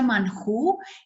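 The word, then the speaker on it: מן הוא: Maná, que en hebreo se pronuncia manjú y significa ¿qué es esto?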